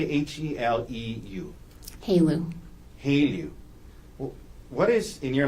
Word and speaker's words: HALEU: Haleu.